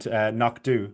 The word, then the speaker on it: Knockdhu: start, but just to be clear, you mentioned Knockdhu, which is obviously the actual name of the distillery, I believe, if I pronounced that right.